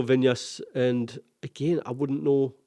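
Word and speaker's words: Viñas: But you have to go Vinyas and again, I wouldn't know I don't know who he is.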